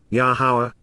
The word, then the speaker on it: Yahowah: Prepared to face and appear with the appearance of, Yahowah, the proper pronunciation of the name of Eloah, God as directed in His Towrah, teaching regarding His hayah existence and our Shalom, restoration, our God, Elohim and Akdu.